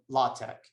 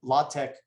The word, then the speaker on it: LaTeX: So next, I just want to mention something about LaTeX.